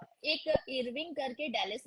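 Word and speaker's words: Irving: जो जगह है वो इरविन है या अरवाइन है? इरविंग, इरविंग, अरवाइन नहीं है, इरविंग। अब people pronounce on their way, बट इरविंग, Americans भी इरविंग ही बोलते हैं, नॉट अरवाइन।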